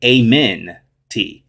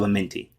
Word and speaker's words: Amenti: halls of amen amen if you wanted to pronounce it with a more english tongue you could say amen t halls of amen t right but it's halls of amenti and so now we've